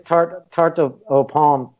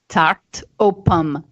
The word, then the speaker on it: tarte aux pommes: And I would say this tarte aux pommes. How do you pronounce it again? Tarte aux pommes.